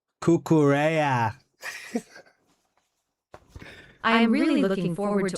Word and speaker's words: Cucurella: You are saying his name wrong. It's C-U Reyes. Say it like that. Cucurella.